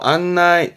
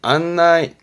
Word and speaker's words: 案内: 안나이, 안나이. 가네. 그래서 발음이 가나이, 가나이.